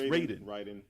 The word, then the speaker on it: Raiden: As Raiden or Raiden? Raiden. It's Raiden.